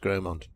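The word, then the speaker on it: Grosmont: So Gromont is Grossmont. Yeah. But it's pronounced Gromont.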